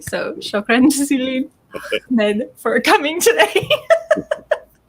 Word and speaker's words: Ahmed: So, shukran jazilan, Ahmed, for coming today. You see, he's saying Ahmed, not Ahmed.